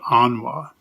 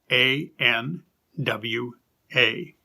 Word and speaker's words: anwa: that the spirit imparts we call this the anwa and that word is spelled a n w a anwa and mario continues if we see a